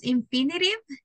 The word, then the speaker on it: infinitive: we we pronounce infinitive because we have letter T between two bowels all the time that you have a letter t between two bowels it sounds like a letter r that's why it's called infinitive like R and not like T that's why we use